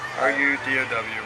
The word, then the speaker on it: Rudow: That's how you pronounce it? R-O-U-D-O. R-U-D-O-W. There you go. It's Rudow.